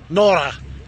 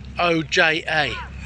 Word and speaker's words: Noja: Just past Nora. Everyone says I'm saying it wrong. It's Noja. Noja.